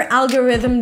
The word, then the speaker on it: algorithm: Notice it's not algorithm, there is no O. As in cat, primary stress on the first syllable, algorithm. And don't forget to stick the tongue out for the TH.